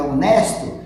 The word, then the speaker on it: honest: Porque está diante de o H, mas o H é mudo, então eu vou pronunciar apenas a vogal O, no caso de honest, tá?